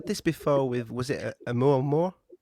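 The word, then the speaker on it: Oumuamua: We said this before with was it a mu mo very good pronunciation. Yeah. Omu Mua, a Hawaiian name.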